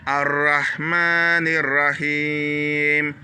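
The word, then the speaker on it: الرَّحْمَٰنِ الرَّحِيمِ: Ici, j'ai mis deux R. Ça veut dire que le Ra doit être un Ra qui est un peu dur. Ra. Ar-Rahmanir-Rahim. Ici, on tire le Ma, c'est une longue syllabe.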